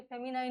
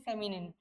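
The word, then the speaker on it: feminine: जब आप इसकी बात करते हो फेमिनिन जेंडर, इसे कोई बच्चा फेमिनाइन ना पढ़े, है ना, आधे बच्चे से फेमिनाइन पढ़ देते हैं। ठीक है, फेमिनाइन नहीं है, करेक्ट प्रोनाउंसिएशन इज फेमिनिन।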